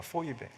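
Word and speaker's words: Φοίβη: 헬라 발음으로는 포이베입니다. 포이베.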